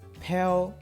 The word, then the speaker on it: Père: Père, that's the French pronunciation, Père Lachaise cemetery just means the cemetery of the East.